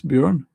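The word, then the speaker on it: Bjørn: Um How do you pronounce Bjorn?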